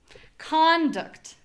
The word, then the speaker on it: conduct: All right, moving on to conduct, which is the verb. So, we have our unstressed syllable first. So, we're going to say not con, but rather the inverse of that. So, my voice is low. My vowel is unclear. It's not ah, it's uh uh and it's short.